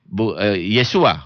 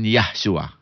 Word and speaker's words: Yesua: Dan satu lagi, Yesua bukan Yahshua.